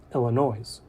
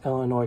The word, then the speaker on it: Illinois: For example, I can say Illinois in an articulate way and still mispronounce it by including the S in my enunciation, Illinois. Similarly, I can pronounce Illinois correctly, but mumble my